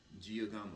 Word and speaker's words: Giacomo: Giacomo, yeah, that's pronounced right.